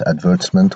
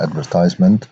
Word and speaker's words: advertisement: and by the way its advertisement or advertisement both pronunciations are correct you saw an advertisement